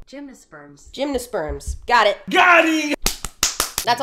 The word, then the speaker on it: gymnosperms: Let me make sure I pronounce that right, because I always get plant shit wrong. Gymnosperms.